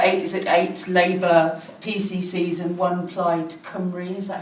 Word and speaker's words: Plaid Cymru: Along with the eight Labour PCCs and one Plaid Cymru, is that how you pronounce it?